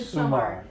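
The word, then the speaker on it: Midsomer: Midsummer. You know, and I Yeah, you need it's pronounced summer, like, oh, it's summertime.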